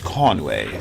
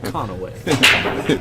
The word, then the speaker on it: Conway: It's Conway, sir. Hey, at least you didn't pronounce it as how they pronounced it yesterday. They put a letter in between the N and the W. Oh. Conaway.